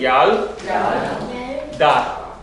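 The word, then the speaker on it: ילדה: Okay, there's no vowel under it, so in other words, there's going to be a stop there. So it's yal. Yal. Everybody, yal, da.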